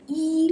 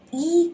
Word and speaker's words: 一: When E comes before fourth tone syllables, it shifts up to second tone, which is E.